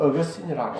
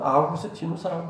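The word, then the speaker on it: Augustinus: 영어로는 어거스틴이라고 하고 라틴어로는 아우구스티누스라고 합니다. 한국에서 외국어 읽기 기준은 그 사람이 어느 시대 사람인가 어느 나라 사람인가에 맞추어서 그 나라 발음대로 읽습니다. 그래서 우리 어거스틴이라 옛날에는 영어로 해서 했는데 요즘은 이제 과거 사람 그때는 라틴어를 썼으니까 아우구스티누스라고 이렇게 부릅니다.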